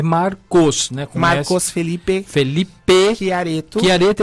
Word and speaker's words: Chiaretto: Marcos Felipe Chiareto.